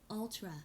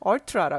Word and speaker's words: ultra: 네 울트라가 울트라 발음하세요? Ultra, 네 잠깐만요. ultra, 얼트라라 그러죠. 네 이게 울트라라고 하지 않아요 영어에서. ultra, 네 얼트라라고 하고 이게 네, 온수로 나오죠 미국 거니까.